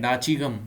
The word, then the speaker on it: दाचीगाम: पे देखो हो डिड डी साइलेंट नहीं डी डेटिंग गम ठीक है दाचीगाम नचीगाम नेशनल पार्क लोकेटेड